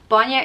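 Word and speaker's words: bainne: are there's different dialects i'm in leinster so a lot of these words are being pronounced with a leinster pronunciation and shukra is sugar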